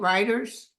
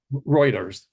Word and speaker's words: Reuters: according to WR how do you say it writers Reuters Reuters and they showed that it was they